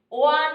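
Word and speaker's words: one: ওয়ান eyed man, 1 rupee coin, এগুলোর আগে এ বসবে, কারণ ওয়ানটা ডাব্লিউ এর মতো উচ্চারণটা নেয়। ওয়ান হয় না, এটা হয় ওয়ান। হিন্দিতে বললে এরকমটা বোঝায়, ওয়ান।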